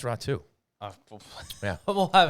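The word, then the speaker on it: Räty: I believe that is now the proper pronunciation, even though there's a Y at the end there. I think it's Ratu rather than Rati. I still thought it was Ratty, but I think it's Ratu.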